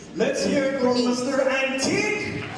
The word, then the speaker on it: Antik: His name also rhymes with unique. Let's hear it from Mr. Antik! Antik.